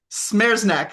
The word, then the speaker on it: Smereczniak: Today, we have got the co-founder of Franzy, Smereczniak, and I think I mispronounced his name. Smereczniak.